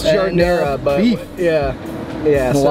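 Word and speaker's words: giardiniera: It's jardinera, but beef. Yeah. Yeah. So a lot of shredded beef. A lot of shredded beef. That's how you pronounce it, jardinera.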